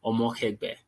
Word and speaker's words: Omokhegbe: Like you said, my name is Omokhegbe. That's the pronunciation of my surname.